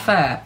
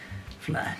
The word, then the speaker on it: Flair: got becky lynch versus charlotte fair freight fair fair flare flair silly boy say it properly we've got the smackdown